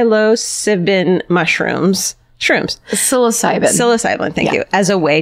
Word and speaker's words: psilocybin: it sigh sigh low sipping mushrooms shrooms psilocybin psilocybin thank you as a way to cope now